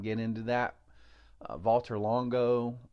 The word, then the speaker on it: Valter: meals have increased longevity not getting into that Valter Longo it's pronounced vaulter but I think it's spelled Walter I believe